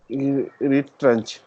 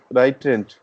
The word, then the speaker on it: retrench: T and this, see the in syllable or in pronunciation way, The T and this sound become T. Sorry, Okay. ch, ch, ch. Yeah. So it is like retrench.